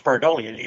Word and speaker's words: pareidolia: You may have to help me with the pronunciation of this word. Pareidolia?